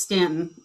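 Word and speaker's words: Staunton: And I know Stanton, that's pronounced Stanton in Virginia because it is.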